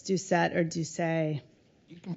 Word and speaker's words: Doucet: I didn't even ask you if it's Ducet or Duce. You can pronounce it Ducet. Ducet.